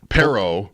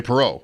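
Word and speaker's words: Perreault: Both have have had their names pronounced differently. It's not unanimous on Perro. Pero. You were going to say Perau. Perau.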